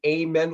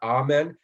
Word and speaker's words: amen: the grand lodge manual they prefer that you say amen with a long a as opposed to amen and right versus brother